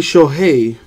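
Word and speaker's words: Shohei: hail Tommy or Otani show hey is how they say it in Japan you know first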